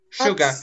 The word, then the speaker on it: sugar: Sugar, sugar. Молодец. Sugar, да. Вот это сложное слово, потому что оно читается не... Никак написано.